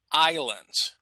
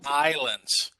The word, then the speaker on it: islands: that but here uh in english for some reason we do not pronounce the s okay so guys one